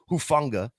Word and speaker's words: Hufanga: Maybe it's a little sympathy pain for how he just absolutely juked Hufanga.